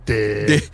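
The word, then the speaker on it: Dégh: The GH is silent, it's just Dig.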